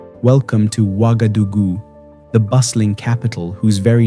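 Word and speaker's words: Ouagadougou: Welcome to Wagadugu, the bustling capital whose very name is a welcome mat. In the local Murray dialect, it's pronounced Wagodogo, literally meaning you are welcome here at home with us.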